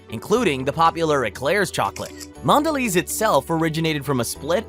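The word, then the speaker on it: Mondelēz: With a dash on top, the E, pronounced Mondelez, is quite fancy.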